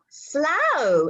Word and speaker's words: Slough: Slough, and it rhymes with plough.